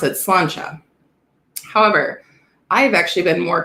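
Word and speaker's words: Sláinte: it looks like it's spelled slant and you pronounce it slancha however i've actually been more converted into the slant java because that is the scottish way of saying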